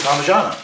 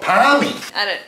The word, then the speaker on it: parmigiana: it for sure Hammer proper pronunciation is chicken parmigiana but they call it everywhere else Australia we call it palmy not in Melbourne all